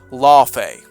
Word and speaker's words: Laufey: the God of War series, God of War Law Fay. And yes, that's how it's meant to be pronounced, at least in this case.